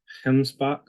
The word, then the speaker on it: gemsbok: and they pronounced the it looks like gemsbok but they pronounce it with kind of a coughing H sound like hpo that was a one